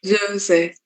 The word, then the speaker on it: Soße: Cuando tenemos una Z en el medio, se alarga un poquito la O. Soße.